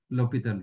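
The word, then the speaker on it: L'Hôpital: अच्छा ठीक है दैट इज कॉल्ड एच आपका साइलेंट हो जाता है लोपिटल रूल बोलते हैं।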